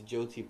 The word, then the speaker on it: Jyoti: by John okay now official Sanskrit it should be Jo tier Joe tier but because this is Odia it's Jyoti there's no R there's the the you